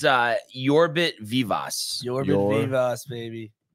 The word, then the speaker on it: Yorbit Vivas: It's Yorbit Vivas.